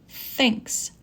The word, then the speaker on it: thinks: Number 2, the advisor thinks that Beatrice should not get a job next year. Work on pronunciation of TH as we practiced last week. Thinks is voiceless, that is voiced.